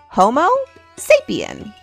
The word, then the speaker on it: Homo sapiens: You say it like this, Homo sapien.